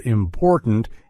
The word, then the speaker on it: important: you may notice that in the word important we have a glottal te sound in the middle and a stop te at the end interestingly we actually don't